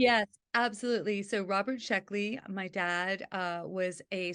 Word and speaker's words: Sheckley: was Robert Sheeley and I hope I got pronounced his name last name correctly yes absolutely absolutely so Robert sheckley my dad uh was a science fiction writer